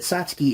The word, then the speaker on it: Satsuki: mention this later or not but is it sasuki or satki because it's spelled Satsuki satki they pronounce it satki in the movie so I'm going to say